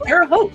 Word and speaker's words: Terre Haute: And Terre Haute. It rhymes with both.